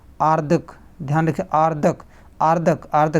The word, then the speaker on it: आर्द्रक: आर्दक। ध्यान रखिए, आर्दक आर्दक आर्दक, ध्यान रखिएगा, जिस पर रा लगता है ये ऊपर, उसके पहले उसका उच्चारण होता है, तो ये आर्दक होगा।